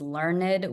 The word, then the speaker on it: learned: I think she thinks the British narrators and educational content makes us fancy, makes us learned with 2 syllables, not 1.